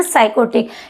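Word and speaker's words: psychotic: साइकोटिक क्या बोलते हैं साइकोटिक यहां पी आपका साइलेंट है ध्यान दीजिएगा वन हु is addicted to hard drinks.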